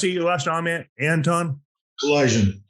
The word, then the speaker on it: Kalaydjian: guest with us uh Anton how do you pronounce it your last comment Anton Collision Collision Collision Anton uh were you listeners tuning in to